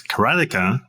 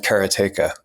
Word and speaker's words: Karateka: in 1984 katea was released and I've been pronouncing it Kara all my life because that's the way it's